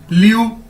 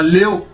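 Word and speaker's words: 六: word आ गया अदद लू एल आई यू लू लेओ नहीं इसको पढ़ना लेयो लेयो नहीं पढ़ना गलत है लू लू ली यू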